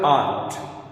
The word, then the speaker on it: aren't: जैसे आर नॉट, aren't you, तो proper pronunciation जो इसका है वो है आंट.